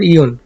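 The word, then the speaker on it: よん: এরপর ইয়ন। ইয়ন 4 এর উচ্চারণ 2 ভাবে হয়, ইয়ন অথবা শি। ইয়ন অথবা শি, যেটা ইয়ন আছে অথবা শি, এই দুটাই 4 এর উচ্চারণ হয়।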